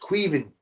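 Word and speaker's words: Caoimhin: Apparently it's pronounced queeven.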